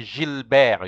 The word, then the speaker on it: Gilbert: called uh he's a Gilbert in French so you say Jill Bear you have to now